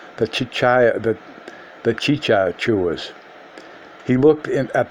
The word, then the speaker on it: chicha: said that the taking of chicha which is pronounced chicha but what he pronounced cha-cha - I didn't pronounce a second one but